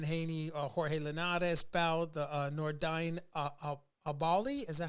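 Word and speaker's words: Nordine Oubaali: We did the Devin Haney, Jorge Linares bout, the Nordine Abali.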